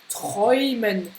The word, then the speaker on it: träumen: Et die Häuser, quand c'est donc au pluriel, on a ici le Oi. Häuser. Häuser. Die Häuser. Et puis on l'a aussi dans träumen. Träumen. Donc là, Oi, Oi. Donc tu vois, c'est un son double.